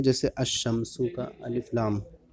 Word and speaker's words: الشمس: کر کے پڑھیں گے، یعنی لام کا تلفظ نہیں کریں گے. جیسے الشمسو کا الف لام.